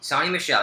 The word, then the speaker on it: Sony Michel: Is it Sony Michel. Sonny Michel, there we go, and Nick Chubb.